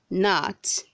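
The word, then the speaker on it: gnat: say guilty not guilty read 191 says not say not not grant the g is silent word 192 says glove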